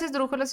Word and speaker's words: esdrújula: Y en la antepenúltima, esdrújula.